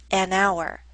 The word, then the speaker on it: hour: next example our hour starts with the letter H but we don't pronounce the letter H the first letters that